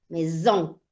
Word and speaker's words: maison: entre dos vocales, entonces suena más arrastrado, como zzz, como zumbido. Maison.